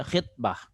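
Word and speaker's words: خطبة: telah berlalu Penjelasan bahwa baca hitbah itu dikasih rekan khoja dibacanya khitbah ya karena kalimat yang sama nanti khutbah tulisannya juga Sama juga ya jadi hot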